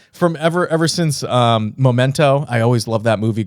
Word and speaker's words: Memento: ever ever since um Memento I always loved that movie growing up I always thought it was you know like the if you love it so much why do you pronounce pronounce it momento because I am illiterate